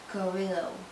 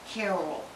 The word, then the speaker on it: Carroll: Mousse by Rachel Borello Carrillo. Sorry, I got ahead of myself. I apologize. I said her name wrong. It's Juniper Mousse by Rachel Borello Carroll.